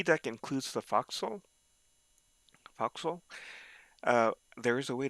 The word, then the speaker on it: forecastle: So foxhole spelled forecastle and sometimes pronounced as forecastle, but it's really foxhole.